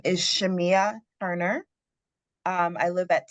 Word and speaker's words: Shamaiah: Is it Shamaya Turner? I'm sorry if I'm mispronouncing your name. Good evening. My name is Shamia Turner.